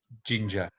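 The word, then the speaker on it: 神社: festival is matsuri and the shrine is ginger pronounced the same way as the as the as the ingredients ginger yeah good um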